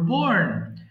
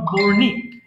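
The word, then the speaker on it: borne: বহন করা bear বোর বোর্ন আর এখানে ই টা যেটা আছে এটা সাইলেন্ট লেটার ওকে আমাদের we don't need to pronounce the last letter of বোর্ন ইটস নট বর্নিক it's simply বর্ন okay again bear বহন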